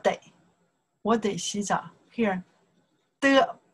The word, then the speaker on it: 得: 的, pronounce the 的.